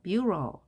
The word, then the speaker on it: bureau: 자, 모음이 3개가 있으면 E, A, U를 각각 발음해 줄까요? 자, 소리가 하나로 납니다. 대신 앞에 자식이 왔기 때문에 한 음절. 자, 앞에 또 자음 모음이 왔기 때문에 한 음절 해서 bureau 이렇게 읽어주면 되겠습니다.